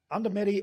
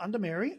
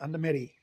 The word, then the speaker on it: Undumeri: him along um okay under medy Expeditions not under Mary under medy pronounced it right y okay so tell